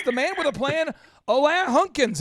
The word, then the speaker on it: Alain: So, yeah, it's a French name. My mom is from Brussels, Belgium. She gave me a super common name. It's pronounced Alain.